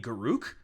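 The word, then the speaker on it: Garruk: Like you're like Garrick, I was like, who is that? You mean Garuk?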